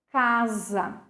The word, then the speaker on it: casa: Nós vimos isso na palavra casa. Eu tenho o fonema Z, mas a letra é S, ok?